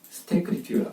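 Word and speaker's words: stécriture: 그것을 락강이 뭐라고 하냐면 스테크리튜라고 해요. 스테크리튜. 제가 읽어볼게요. 그 인용문을. 자, 여러분은 스테크리튜는 뭐냐면 ST를 붙이고 그 다음에 에크리튜는 글쓰기죠. 에크리튜는 글쓰기인데 거기에 앞에 ST를 붙인 거예요. ST. 그래서 스테크리튜가 하는 발음이 돼요.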